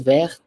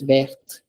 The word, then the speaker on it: verte: because of E, the second one is pronounced as verte. The first one is pronounced as vert. The second one is verte.